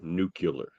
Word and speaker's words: nuclear: pretty good qualifications um Baker Baker nuclear it's pronounced nuclear okay sorry nerd yeah